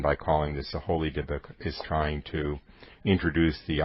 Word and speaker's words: Dybbuk: The book is called The Holy Dybbuk. The Holy Dybbuk, Dybbuk is spelled D-Y-B-B-U-K, and in Jewish mythology, so to